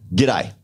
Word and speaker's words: g'day: It's almost one syllable, isn't it? G'day. And I love it because they say, and you have a g'day. Yeah, that's it. We don't say that, right? No, it's not actually good day.